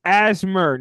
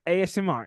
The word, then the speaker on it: ASMR: Cape it is time it's asmer not ASMR it's asmer asmer as asmer I mean that's how it's spelled like literally now we head back